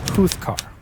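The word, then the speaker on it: Júzcar: Which is why I can't stop thinking about this tiny little village in Spain that I'm pretty sure is pronounced Juzcar, spelled J-U-Z-C-A-R, Juzcar, because on paper, the story of this town is ridiculous.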